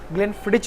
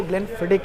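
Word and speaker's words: Glenfiddich: कई बार लोग इसको ग्लेनफिडिच भी कहते हैं, बट इसका जो एग्जैक्ट प्रोनाउंसिएशन है वो ग्लेनफिडिक है।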